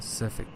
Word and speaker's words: specific: Specific, stress is on specific.